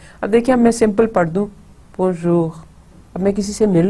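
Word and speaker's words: bonjour: سو پہلا جو تھا بون, پہلا حصہ بون, اور سیکنڈ ہے جور. بون جور جو غ, دیکھیں غین اردو کی طرح سے ملتا جلتا, سو اس کو ہم بونجور نہیں کہیں گے, رے انگلش کی طرح پڑھنے کی کوشش نہیں کریں گے, بونجور.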